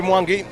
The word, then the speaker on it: Mwangi: Henry Mwangi, one of the most revered Kenyan players, especially in the Ugandan space. The Ugandans call him Henry Mwangi. That's how the name is pronounced back home.